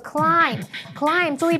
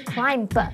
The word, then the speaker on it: climb: 你知道她提早离开的原因是什么吗？第4个单字呢，叫做爬，攀登上爬山那个爬就可以用这个字来表达，叫做 climb。注意 b 不发音哦，叫做 climb，不是 climb，没有 b。The puppy was trying to climb up the stairs.